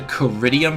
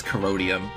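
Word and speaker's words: Corrodium: fact only referencing the coridium from season 3 hello post alonia I mispronounce it wrong it's codium my bad the purple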